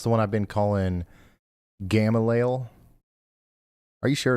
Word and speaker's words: Gamaliel: reminding us that it- Gamaliel, near Mountain Home, is pronounced more like Gamalia. Keep up the great work. Gamalia? So that's the one I've been calling Gamaliel.